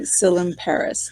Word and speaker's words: Tsilimparis: Today we have John Tsilimparis. Tsilimparis. Tsilimparis. Okay. The T is silent? The T is silent. Yes. Okay. So today my guest is John Tsilimparis.